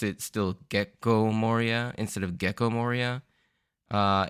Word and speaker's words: Gecko Moria: with a different intonation there's like a a sort of a harsh pause in the middle instead of gecko it's gecko so I'm probably going to pronounce it still gecko Moria instead of gecko Moria